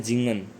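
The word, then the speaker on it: singen: सिंग को कहते हैं जिंगन वैसे ये सिंगन आप पढ़ सकते हो बट सिंगन नहीं पढ़ना एस को प्रोनाउंसिएट के अकॉर्डिंग जे के आवाज आएगी तो जिंगन इसके बाद शी वांट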